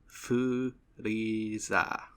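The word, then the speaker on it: フリーザー: So in Japanese, Articuno's name is Frieza, which is the English word freezer, just pronounced in Japanese.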